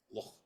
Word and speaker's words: Loch: Loch. Loch. You have to have phlegm in your throat.